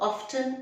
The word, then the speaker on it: often: well you know what both often and often are correct it's just that often is american pronunciation and since we follow british pronunciation so we say often we often make this mistake so the t is not pronounced and now that you